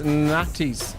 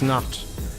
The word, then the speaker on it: Nantes: Probably says Nantes equals not. N-O-N-T. Is that how I pronounce it?